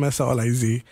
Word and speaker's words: Soliz: Well, he's Solis, I'm Soliz. Different family. Ah, okay. See? I got you. Well, I didn't know. So, but you pronounce it the same.